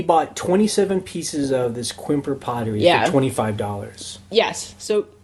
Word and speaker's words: Quimper: just gonna call it quimper let's just call it quimper because we're white Americans who just pronounce things like that okay so um the